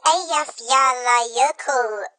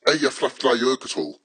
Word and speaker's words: Eyjafjallajökull: The Eyjafjallajökull eruption back in 2010 produced a huge ash cloud that caused chaos to global air travel. Tom, it's pronounced Eyjafjallajökull.